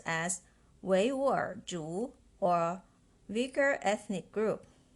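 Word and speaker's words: 维吾尔: In Mandarin, Uyghur is pronounced as Weiwur Zhu or Uyghur ethnic group.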